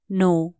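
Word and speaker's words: know: teach जानो लाइके भने नो के एन O double you नो यहां के साइलेंट हु्छ ते कनो है नो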